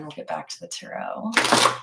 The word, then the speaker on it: tarot: get back to the tarot tarot tarot parrot I love it when people pronounce the tea that's my favorite one